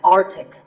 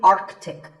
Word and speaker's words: Arctic: It's mispronounced by many as Arctic, but it's actually Arctic. The C in the middle is not silent.